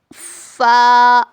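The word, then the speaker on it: ف: उसके बाद आता है फ का क्या मखरज है देखिए सामने के दो दांतों के किनारे को नीचे के होठ के अंदर के हिस्से को लगाने से फ़ अदा होता है।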